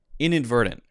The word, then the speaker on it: inadvertent: will say inadvertent inadvertent inadvertent so the t will be pronounced verdun dun like a light d sound and then the end of the word will be a stop t pronunciation verdant verdant verdant so